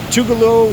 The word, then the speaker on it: Tugaloo: from the senica river tugalo some people say tugalo but I think it's pronounced tugalo it's spelled tugaloo this is where the